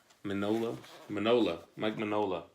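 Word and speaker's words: Mike Mignola: Mike Minola. That's it. The G is silent.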